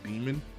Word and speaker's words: Daemon: him a lot and I've been pronouncing his name Damian throughout the video but if you go to Google and actually like look up his name and the ordinance of it I believe it's pronounced demon which makes him even more